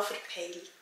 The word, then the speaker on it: verpeilt: Auf Schweizerdeutsch sagen wir, ich habe es total verpeilt. Ihr merkt, dass sich die Aussprache des EI unterscheidet. Auf Schweizerdeutsch sagen wir ein E und ein I. Es entsteht kein neuer Laut wie im Hochdeutschen.